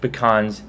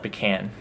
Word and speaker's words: pecan: A lot of people in the South, not as much in Texas, but in the South, call it pecan or pecan, emphasizing on the E especially. But I like pecan.